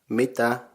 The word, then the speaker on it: mitä: used in different ways Meeta means what and meter consists of two syllables me and that the a with the dots on it is pronounced ah the first syllable me